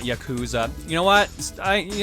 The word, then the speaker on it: Yakuza: leader of the Yakuza Dev team the ryoko team is the creator